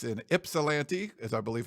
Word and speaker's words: Ypsilanti: Then someone sent me, they said the Y sounds like an I.